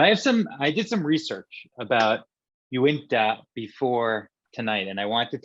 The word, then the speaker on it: Uinta: I'm going to say it's probably one of the least the breweries that are pronounced incorrectly the most. I still have trouble. Uinta.